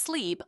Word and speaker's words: SLSIP: The second pathway is the SLSIP program, pronounced SLEEP, a VA primary care model for OSA identification.